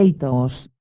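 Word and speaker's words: ἰχθύς: La palabra griega itus, iota quiteta ipsilon sigma, pronunciada itos, es la palabra usada en el Nuevo Testamento para la palabra pez.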